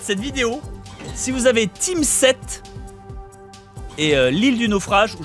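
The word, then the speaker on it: Tim 7: Team 7, ça s'écrit T-I-M espace 7, c'est de Ubisoft, c'est un jeu éducatif.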